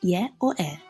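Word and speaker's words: Ե: or towards the end of a word, it's pronounced E. Let's take our pen and paper now and we'll write out the uppercase. Y or E.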